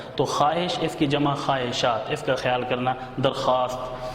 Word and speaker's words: خواہشات: خواہش، خواہش کی جمع خواہشات، یہ تلفظ کا خیال کرنا، خواہشات بچے پڑھتے ہیں، خواہشات نہیں پڑھنا، واو سائلنٹ ہو جائے گا۔ یہ واو